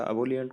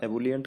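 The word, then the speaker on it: ebullient: Next word है इबुलियंट। इबुलियंट या अबोलियंट कुछ भी कह सकते हैं आप, ये यूके और यूएस प्रोनाउंसिएशन में थोड़ा अलग हो जाता है, चाहे इबुलियंट कहें या एबुलियंट कहें, मतलब जोशीला, एंथुजियास्टिक।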